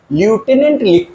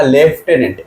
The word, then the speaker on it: lieutenant: लेफ्टिनेंट, इसको क्या पढ़ोगे, लेफ्टिनेंट, LI, ल्यूटेनेंट लिखा जाता, पढ़ा जाता लेफ्टिनेंट, LIEUTENANT, लेफ्टिनेंट।